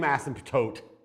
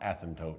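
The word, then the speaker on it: asymptote: still has the same ASM toote that's pronounced ASM toote because the p is silent has the same ASM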